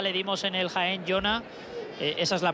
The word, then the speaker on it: Jona: Bueno, hablábamos del gol de Jona para el Cádiz, jugador que la temporada pasada le dimos en el Jaén, Jona. Esa es la pronunciación adecuada, lo que pasa es que cuando estamos en ronda vamos ahí a tope.